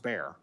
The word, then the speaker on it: BBAER: and Social Implications Research, or BBAER, pronounced BAER. The Bayer program has four goals.